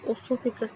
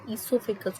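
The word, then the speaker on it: oesophagus: कई लोग इसको प्रोनाउंस करते हैं ओसोफिकस. ओसोफिकस नहीं होता है, ईसोफिकस होता है. यहाँ पे जो ओ है वो साइलेंट है.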